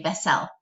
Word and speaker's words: vessel: Okay, we know that we are lazy American English speakers, and so really that second syllable kind of has that schwa sound, vessel. We don't say vessel, we say vessel.